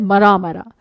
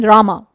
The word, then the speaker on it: Rama: That fellow could not even utter the word Rama properly. He pronounced it as Mara Mara.